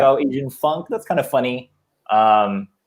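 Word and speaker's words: AZN Funk: came up you know i was like oh engine funk that's kind of funny um and so i just used that but then the problem is a lot of people pronounce it as as in funk yeah you know and that's and that's understandable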